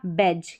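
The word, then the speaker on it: badge: Next देखें बी ए इसको बै पढ़ेंगे और डी जी डी जी ई को ज पढ़ा। तो ये हो गया बैज। क्या हो गया? बैज।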